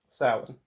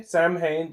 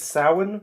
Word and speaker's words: Samhain: The reason he pronounced it Samhain is because it looks back in the 80s and back in the 70s there was a rule of like whatever's written you must say.